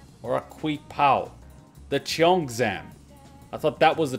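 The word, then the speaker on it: cheongsam: It's pronounced Chong Sum. At least that's how I was taught to pronounce it.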